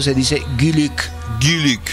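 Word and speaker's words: Güyük: Guluk lo pronuncio con la diéresis, porque recuerden que al igual que en el turco, en el mongol está la diéresis en las vocales.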